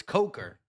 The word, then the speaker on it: Coker: Yes, because coke is spelled Yes, it's Coker. Yeah, let me I was just trying to say Jaylen C. Coker. Shout out to uh Manra. He said it's Coker, not the other one.